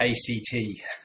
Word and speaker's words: ACT: pronounce it as uh you do shorten it to act not act because at its core